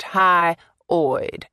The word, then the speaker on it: hyoid: That's pronounced hyoid.